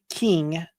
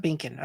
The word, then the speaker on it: King: Uh, I'm getting corrected. It's uh it's uh King, not uh not not Binkan.